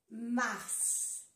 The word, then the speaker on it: mars: Mars. Se pronuncia todas las letras aquí.